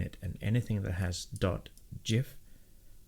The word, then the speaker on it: GIF: So anything that has .csn in it, and anything that has .gif, and yes, it's GIF with a hard G. That was a soft G.